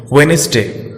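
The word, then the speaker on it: Wednesday: डी बहुत सारे आम शब्दों में भी साइलेंट रहता है, जिसके लिए कोई नियम नहीं है, जैसे वेडनेसडे। यहां पे डी साइलेंट है, हालांकि यहां पे किसी नियम के तहत डी को साइलेंट नहीं किया गया है।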